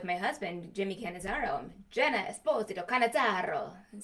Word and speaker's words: Esposito: So is your last name pronounced Esposito or Esposito? In America, everybody says Esposito, but in Italy, they will hurt you if you do that.